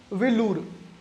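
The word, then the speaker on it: வேலூர்: या फिर ये जो वेल्लोर है, ये वेल्लोर गलत है, इसका उच्चारण तमिल लोग कैसे करते हैं? विलूर।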